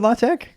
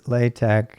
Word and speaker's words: LaTeX: in english that is not with the ks pronunciation english speakers normally associate with x but with k so that's the big